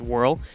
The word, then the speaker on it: WRL: It's created by WRL, pronounced Whirl, and he's the one that's put that in there, and he's really excited for it to be there as well.